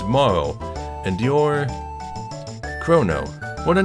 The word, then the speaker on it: Marle: Lots of people think it might be Marley or Marley. It's not, it's Moro, because the Japanese version of her name doesn't have the E at the end.